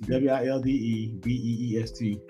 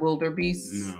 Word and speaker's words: wildebeest: spell that is this w-i-l-d-e b-e-e-s-t oh there's not a uh there's not an r it's not wilder beasts okay wildebeest let me